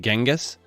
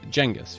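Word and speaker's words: Genghis: a quick side note I've come to learn that I've been mispronouncing jangus Khan's name incorrectly using genas so going forward I'll make sure to use jenus from now on of course the Ottomans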